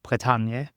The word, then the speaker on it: Bretagne: Yeah, no, I never really, because in French it is called Bretagne.